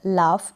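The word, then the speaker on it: laugh: फिर ये है लाफ, क्या है लाफ, GH है लास्ट में, तो फ, लाफ बन गया ये।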